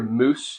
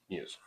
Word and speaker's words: muse: So anytime you hear moose, it's the clown not understanding how to pronounce muse.